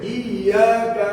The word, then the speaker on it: إياك: তারপরে দেখেন, ইয়াকা না'বুদু।